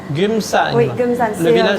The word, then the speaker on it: Geumsan: Comment C'est tu une prononces? Gumsan. Gumsan.